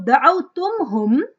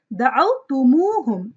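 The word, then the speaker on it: دعوتموهم: So instead of da'awtumhum, we say da'awtumuhum.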